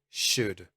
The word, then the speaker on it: should: hypothetically speaking wood could should now these are words that i hear mispronounced all the time we do not say the letter l when we are using these words so make sure that